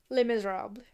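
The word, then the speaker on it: Les Misérables: Is it actually pronounced The Miserable? Les Miserables. Yeah, that sounds like some French-ass garbage.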